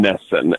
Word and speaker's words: NESN: horribly but yes it's it said how it sound Nessa NESN yeah just like a advance a Nintendo system to me that's what